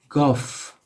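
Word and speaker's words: گاف: It looks similar, so it's called Guff.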